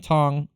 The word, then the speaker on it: Cong: versus Wong Tong uh it's spelled Kong but they kept saying Tong and everybody said it so I I think that is correct uh Brazil Landing low